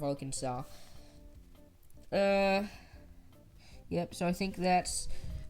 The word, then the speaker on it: Arkansas: And it's called La Petite Roque, which is French, which is also who we have to thank for the pronunciation of Arkansas. Yep. So I think that's gonna about wrap it up. Arkansas, Arkansas, Arkansas, Arkansas, Arkansas.